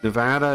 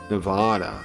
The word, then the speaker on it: Nevada: you guys are from Nevada NADA is how you say it Nevada is how you say it that's the way everyone here that lives here says it Nevada but because of like Spanish or whatever people say Nevada I think but that's not correct